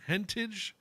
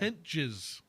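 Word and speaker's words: Hentges: Adrian Hauser, Sam Hentage, God, I can't say his name. Hentage. I don't want to say his name. Just don't. Hentage. Henches. Something like that. Henches.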